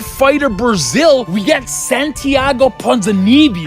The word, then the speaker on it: Ponzinibbio: on the Ultimate Fighter Brazil, we got Santiago Ponzinibbio. How do you pronounce it? Ponzinibbio.